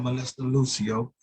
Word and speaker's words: Melissa Lucio: Like we have the petition there to sign to help Melissa Lucio. That's how you pronounce it? That's right. Melissa Lucio.